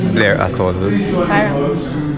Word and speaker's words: Blair Athol: เ So whisky tasting ito 20 years 20 years siya na blare at all. Tama ba yung pronunciation ko? Blir athol yun. Blir athol.